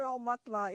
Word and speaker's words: Aumatma: Al Matma is that did I say it right?